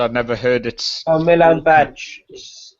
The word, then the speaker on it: Milan Badelj: I just no idea how to pronounce it, so I'd never heard it. Oh, Milan Badge is how you say it.